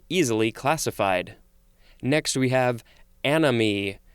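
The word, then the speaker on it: anomie: Next we have anomy. Sort of sounds like the word enemy, but this is spelled A-N-O-M-I-E, or it could also be spelled A-N-O-M-Y.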